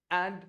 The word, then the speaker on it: un: संख्या एक को "अन" कहा जाता है और यदि संख्या एक किसी स्त्रीलिंग वस्तु को संबोधित की जाती है, तो उसे "उने" कहा जाता है।